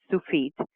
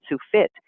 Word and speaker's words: Tsufit: you pronounce my name it's actually pronounced sue feet and I promised